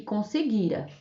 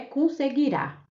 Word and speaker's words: conseguira: Esse trecho aí traz 3 verbos: espreitara, batera e conseguira. Esses verbos não estão no futuro, porque não está com a última sílaba acentuada. Não é espreitará, não é baterá e nem é conseguirá.